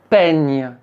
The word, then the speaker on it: peigne: Par exemple, le “e” et le “i”, ou alors le “a” et le “i” pour faire le son (è). Comme le mot : “peigne”.